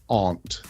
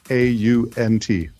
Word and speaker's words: aunt: know it's the one the classic one because it's always mentioned is Aunt a-u-n-t my aunt versus Aunt now that one